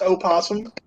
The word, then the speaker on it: opossum: yes I can pronounce opossum AUM o possum but yeah we just call them posum here we don't pronounce the O most people do I